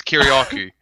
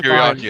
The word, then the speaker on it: Kiriakou: I think it's Kiriakou. Kiriakou. That's how you say it.